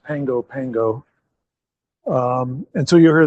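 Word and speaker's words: Pago Pago: It's spelled P A G O but it's pronounced Pango Pango.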